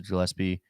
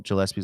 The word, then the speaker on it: Gillespie: I don't know how to pronounce Colin Gillespie's last name, so I'm I think it's gonna Gillespie. I think it's a Gillespie. hard Okay, G. hard Yeah. G.